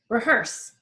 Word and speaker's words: rehearse: Rehearse. Hearse is like second syllable, so number 1.